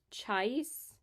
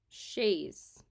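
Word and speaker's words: Chaise: out Chase Pro nunciation sh Shay sh like Shay Lounge duh wow brain fart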